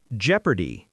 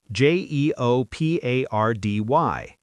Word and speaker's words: jeopardy: Jeopardy. J E O P A R D Y.